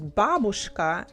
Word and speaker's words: бабушка: The stress in Russian we pronounce on the first part.